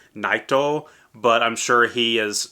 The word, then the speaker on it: Nightow: and by the way it is spelled and pronounced naito but I'm sure he is stylized it into